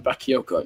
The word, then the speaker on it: Bakayoko: Johan Bakyoko. That's how you say his name.